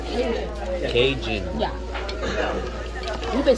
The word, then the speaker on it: Cajun: It's Cajun.